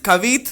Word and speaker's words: Cavit: um shout out to cavett cavite as my mom would pronounce it made in italy of